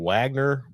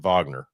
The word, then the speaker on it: Wagner: Uh Kansas Jay-Hawks hosting Wagner or is it Vagner? Depends on which side of the pond you're from.